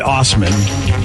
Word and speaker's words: Assman: So there's a guy whose real name is Dave, last name A-S-S-M-A-N. Assman. Assman! Now, he pronounces it Osman.